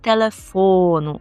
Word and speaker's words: телефону: Номер не номер і телефону. Наголос на фо телефону.